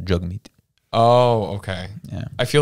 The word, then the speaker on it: Jagmeet: So we usually say jag meat. Yeah. It's pronounced jug meat.